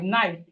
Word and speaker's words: knife: So the K in knife is silent.